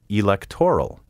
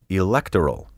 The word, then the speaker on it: electoral: In recent years, I have heard numerous broadcasters say mayoral and electoral.